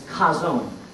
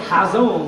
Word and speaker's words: Chazown: for vision is kazone now until this week I really hadn't been pronouncing this word the right way because you need to kind of make a guttural sound when you say it it's kind of like when you clear your throat you know like that